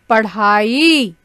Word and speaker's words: पढ़ाई: रहे हैं वहां के नीचे जब आप एक छोटी सी बिंदी लगा देंगे तो उसका उच्चारण करेंगे इस तरह के धीमे स्वर में उच्चारण करेंगे मेने मेरा भाई मन लगाकर पढ़ाई कर रहा है हम्म प्रधान भी नहीं बोलेंगे हम बोलेंगे इस पढ़ाई ठीक है बच्चों यह